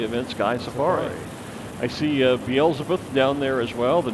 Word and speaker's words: Beelzebub: Beelzebub.